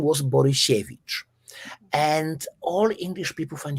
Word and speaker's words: Borysiewicz: They say Borysiewicz, not Borysiewicz. And then I told Bopping, by the way, just is she like sheshe, like saying. And then he says Borysiewicz. Perfect. You could, if you would just record it, he could go through as a Polish native speaker.